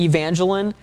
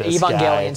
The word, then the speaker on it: Evangelion: on this show but um Neon Genesis a Evangeline Evangelion Evan yeah you're right that's totally how you say it Evangelion sorry fake fan sorry um you know but